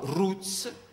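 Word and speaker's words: routes: parola strade o rotte che si dice nello stesso modo ruts ma si scrive r o u t e s noi noi specialisti gli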